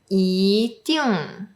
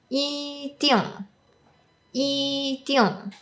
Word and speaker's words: 一定: For example, 一定一定. Because of the tone change rule, the yi should be pronounced as yi instead of yi, but some Cantonese speakers might pronounce it as 一定一定.